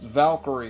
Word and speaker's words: Valkyrie: It's pronounced Valkyrie, Mike.